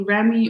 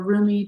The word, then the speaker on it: Rumi: And then your very last oracle card here is the Remy or Rumi, depending on how you like to pronounce it, oracle deck by Elena Fairchild.